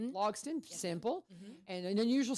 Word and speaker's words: Logsdon: Lo how do you say your last name logon logon simple and an unusual spelling on Kate I